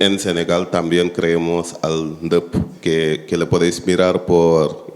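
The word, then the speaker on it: Ndeup: Y en Senegal también creemos al NDEP, que le podéis mirar por internet. Se llama NDEP, se escribe N-D-E-U-P.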